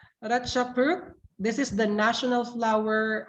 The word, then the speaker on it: ราชพฤกษ์: And number 2, I'm not sure how to pronounce this word, teacher Jeep, but it's Ratchapruk. ราชพฤกษ์ Oh, รา Ratchapruk.